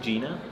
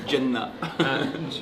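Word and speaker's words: Jena: I think Gina. Yeah. Yeah. But you say it like it's a it's a facil you say it in like almost Arabic. You say Jenna.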